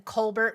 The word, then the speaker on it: Colbert: the French way, so he says it the French way. It's funny because my family lives in Colbert, Washington, so we sometimes say Colbert.